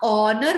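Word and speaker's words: honour: was built to ऑनर, अभी बताया था ना, ऑनर बोलते हैं इसको, एच साइलेंट है इसमें, ठीक है।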